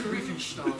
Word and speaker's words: Riefenstahl: Yeah, Riefenstahl, that's how you say it.